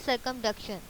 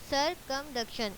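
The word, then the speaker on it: circumduction: Next हम move करते हैं सरकमडक्शन। सरकमडक्शन ये वाला वर्ड बोलना सीखेंगे, सरकमडक्शन।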